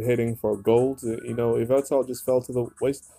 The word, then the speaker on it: Yveltal: We have a revamping of Yveltal. That's how you pronounce it.